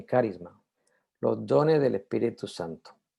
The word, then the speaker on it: carisma: de los dones plural la palabra griega carisma o carisma se pronuncia más bien carisma los dones del espíritu